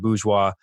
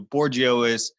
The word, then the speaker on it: Bourgeois: on your show how the heck do you pronounce your name I think I was polite about it and you politely said boo schwa and right when I was about to introduce